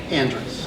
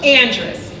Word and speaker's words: Andrus: the way it's Andress Andress and it's just it's pronounced just the way it's spelled I have no idea why I did it but it's Andreas and I think it's